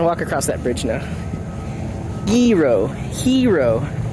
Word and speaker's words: gyro: Gyro, hero, like the G is silent.